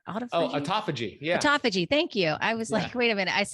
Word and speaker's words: autophagy: talk about the topic of Auto is it auto fudgy oh autophagy yeah autophagy thank you I was like wait